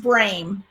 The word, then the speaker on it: Brame: It's pronounced Brame, like it rhymes with name. Her name is Brame.